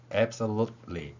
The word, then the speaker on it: absolutely: absolute 이렇게 해서 소리 호흡이 한번 나고요. 뒤에 리을 두 번, 여기에 연결될 때 이렇게 뒤에 소리로 연결된다는 것입니다. 때에 따라서 이 리을을 받침으로 표현해도 그대로 소리낼 수 있을 것입니다. 이 글자로 발음을 읽어본다면 absolutely 이렇게 발음할 수 있다는 것이죠.